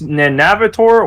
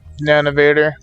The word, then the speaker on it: Nanovor: neheim yes would you say it's navitor or nanovor nanovor it rolls off much easier I don't have to to think about it that that's what I was going to say but the way it's spelled it's just like it needs an extra syllable yeah but yeah um